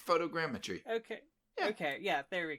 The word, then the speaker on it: photogrammetry: yeah fruit fruit again I think you say photogrammetry okay okay yeah there